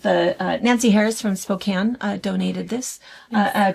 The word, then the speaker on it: Spokane: It's Gonzaga is how you say it. Gonzega from Spokane, not Spokane.